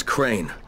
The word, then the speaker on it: Crane: store no my name's crane crane crane rhymes with train and brain and S and Grain